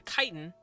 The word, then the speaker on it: chitin: Because they're spiders, the skin, the chitin, or the chitin, as I know some people pronounce it, has softened over the hundreds of years that they have been domesticated.